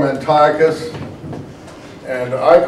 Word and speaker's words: Antiochus: Because on their way back from the Egyptian campaign, and the king, it's not an emperor, is Antiochus Epiphanes. Now, some people like to call him Antiochus, and I call him Antiochus only because of the word Antioch in Syria.